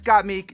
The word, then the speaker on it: Gottmik: So congrats, Gottmik. You are an ultimate hater. Congratulations. Yes. Is it got Meek or got Mick? Oh God, it is Gottmik, isn't it?